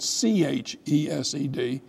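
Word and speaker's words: חסד: in English, and sometimes you'll see it C-H-E-S-E-D. The C-H is a way of saying it's a guttural. But you don't say ch.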